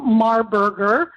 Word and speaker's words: Marburger: and by the way my guest today is marberger I pronounce that properly didn't I not you said it perfect okay you know my